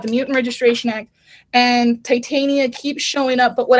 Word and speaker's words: Titania: versus taitian how do you say her name titania titania okay it's she-hulk version versus titania and